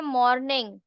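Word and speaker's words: morning: डे का मतलब जैसे मॉर्निंग, मॉर्निंग बोलते हैं, आर साइलेंट होता है, नाइट।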